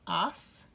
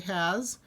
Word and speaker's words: haz: Hacer is going to become as. As. It's an S sound, even though it's spelled with a Z. We're not going to say has. Say, pronounce it as.